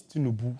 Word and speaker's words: Tinubu: No, it's Tinubu. Tinubu. Yeah, Tinubu. You ought to diss me. You can't even pronounce it well.